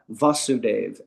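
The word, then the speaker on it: Vasudeva: So it's such a Sanskrit language is so subtle that uh the father is a a short a va vasuv and the son Krishna his name is vasuave.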